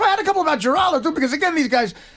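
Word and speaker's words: Giraldo: But, but seriously, the producer mispronounced Greg's name. He said Haraldo, not Geraldo. But honestly, you can't fault the guy.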